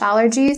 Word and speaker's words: allergy: So allergy is noun form. Not only it has the A sound, the butterfly A sound for the first syllable, but also the primary stress is upon the first syllable as well.